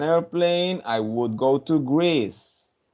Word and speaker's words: Greece: It's go not Grace. It's Greece. Grace. Greece. Yes, I mean. yes, that's a good one. If I had an airplane, I would go to Greece.